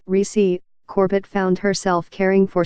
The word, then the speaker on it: Recy: Born on December 31, 1919, to a family of sharecroppers in Abbeville, in southeastern Alabama, Recy, pronounced Recy, Corbett found herself caring for 6 younger siblings after their mother died when she was 17.